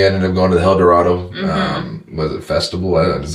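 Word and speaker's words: Helldorado: Dorado and if you don't know how to spell it h e l l d o r a d o hel Dorado hel Dorado yep get your uh El Dorado hel Dorado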